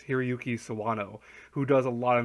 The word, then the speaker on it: Hiroyuki Sawano: And the music's done by I have to look up his name because I always forget how to pronounce it. It's Hiroyuki Sawano, who does a lot of music.